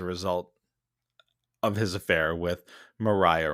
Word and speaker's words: Maria: And Hamilton never admitted to them that James Reynolds was extorting him as a result of his affair with Mariah Reynolds or actually probably pronounced Maria.